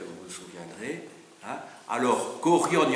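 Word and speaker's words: chorion: des habitants, se dit Korion. C-H-O-R-I-O-N. Korion. Donc C-H-O-R-I-O-N. Korion. Alors, bon, ça se prononce, le CH se prononce que, parce que c'est la lettre qui en grec.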